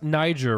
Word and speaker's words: Niger: play this uh it's it's pronounced Niger right correct should we pay should